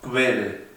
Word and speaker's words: Quelle: La Q en sí se pronuncia igual, pero en este caso, al poner Q, U, E, la U se pronuncia como si fuese una B. O sea, en el caso de Quelle, no decimos Quelle, sino Quelle.